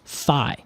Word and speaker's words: phi: So that number is called FI. I've always pronounced it fee, but apparently it's fi phi.